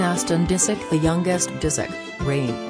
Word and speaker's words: Reign: disick the youngest disick rain pronounced like rain was born on december